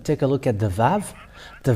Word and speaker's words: Vav: we can see that it's VAV it's not wow but VAV that comes